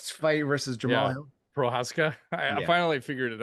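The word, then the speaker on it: Procházka: Prochazka. I Yeah. finally figured it out. I wrote Nice. it phonetically this time.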